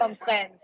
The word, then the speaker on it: comprennent: It rhymes with. Comprennent.